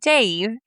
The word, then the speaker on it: Dav: And fun fact, when I was Googling how to say his name, because it's spelled D-A-V, it's pronounced Dave.